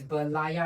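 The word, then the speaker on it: Berlayar: Okay, it's Berlayer, right? Correct? Yeah, pronounced correctly.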